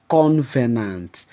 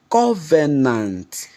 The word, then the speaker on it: covenant: prominent one again is convenant there is no word like convenant the word is Covenant Covenant an agreement Covenant